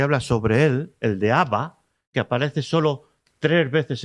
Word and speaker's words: Abba: se dirige al padre Abba es una voz aramea y efectivamente como os he dicho parece solo tres veces pero ahí en esa expresión de ABBA con ese acento en la última a dicen los especialistas Joaquín